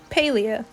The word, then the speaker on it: Palia: a little bit about paleo pronounced like this paleo it's a newly announced mmo from singularity 6.